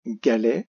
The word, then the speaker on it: galet: Les, la deuxième syllabe, le son est fait par les 2 lettres ET. Pour penser au T que l'on peut un peu oublier, on peut penser à